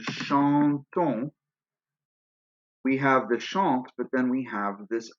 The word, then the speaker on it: chante: Chanter. Lastly, the they form, il chante, elle chante. Now you'll notice there's an ENT at the end, but it is silent.